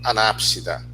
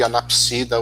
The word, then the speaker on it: anápsida: Você pode também chamar de anapsida ou diapsida. Tá? Já vi as pessoas utilizando ambas as pronúncias. Eu falo muito anápsida, diápsida.